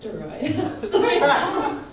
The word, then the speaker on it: Dariyah: Give it up for Dariyah, please. Person, but it's Dariyah. I literally asked everyone's pronunciation, and then you were added to the list.